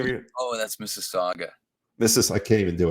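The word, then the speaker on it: Mississauga: what is the first of all I can't pronounce it Miss Miss waga how do you pronounce the name of your oh that's Mrs Saga Mrs I can't even do it all what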